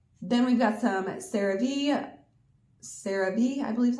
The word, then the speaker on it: CeraVe: Then we've got some CeraVe CeraVe, I believe is how you say it, body wash and shampoo.